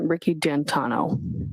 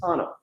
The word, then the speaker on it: D'Antuono: Tom and his friend, is it Ricky D'Antuono? How do you pronounce the name? It's Ricky D'Antano. D'Antano.